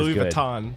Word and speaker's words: Louis Vuitton: or like Victoria's Secret not as Louis Vuitton but not viton that's no that's how you pronounce it okay sure it's not